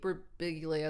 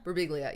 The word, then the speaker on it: Birbiglia: I guess what I'm saying is like Pete Birbiglia, is that how you say his name? Or Sarah Silverman. Birbiglia.